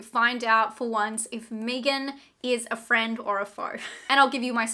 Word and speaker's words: M3GAN: got out of seeing Megan It's not Megan it's Megan I feel like some